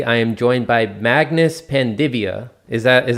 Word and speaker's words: Panvidya: I am your host, and today, as you guys can see, I am joined by Magnus Panvidya. Is that how you pronounce it?